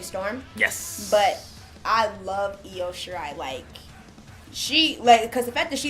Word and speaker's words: Io Shirai: I don't know how to pronounce her name, so do you wanna? You did the chant too. Io. So it's Io Shirai.